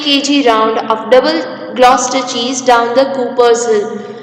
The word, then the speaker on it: Gloucester: Now, Gloucester is pronounced as Gloucester.